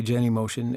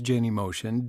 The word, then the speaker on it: Genymotion: Now, there are some competing pronunciations out there, Genymotion, whatever. I just say Genymotion, and you can say it the way that you want.